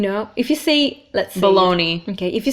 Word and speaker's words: Bologna: here so let's check the next one is Bologna Bologna not that's a food item that thing know which